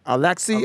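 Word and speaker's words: Alexey: husbands the husband's name is alex how you pronounce it a-l-e-x-e-y alexi lex alexi yeah why alexa you're right my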